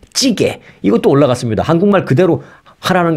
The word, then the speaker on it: 찌개: 그다음에 J jji gaae jji g 좀 한번 발음해 보세요 jjigae네 찌개 이것도 올라갔습니다 한국말 그대로 하라는 것이죠 이걸 뭐